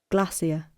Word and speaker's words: glacier: thought okay listen right glacier glacier okay so glacier glacier so the first part you can see the marker there is again pronounced with relatively loud voice okay now next in